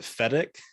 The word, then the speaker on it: Fedak: um everyone this is uh alph is it fedex it's actually fedex that's how i pronounce it yeah okay that's it's a it's